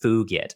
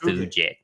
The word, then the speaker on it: fugit: well actually you see in Latin the G is actually hard and at least in classical Latin in ecclesiastical Latin you're allowed to pronounce it like a j so it an Tempest fugit not fuj yeah yes